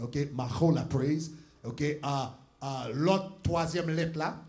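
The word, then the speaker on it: מחולה: OK, mais prononcer ça, c'est un H guttural. Donc, on ne pas prononcer le H, ou prononcer le H. OK, Mahola praise.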